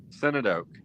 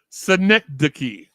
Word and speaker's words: synecdoche: Senate Oak. The correct pronunciation is Synecdoche. Synecdoche.